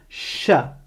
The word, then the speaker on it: ش: Mais en l'occurrence, c'est un son super simple à prononcer, puisqu'il existe en français de la même manière.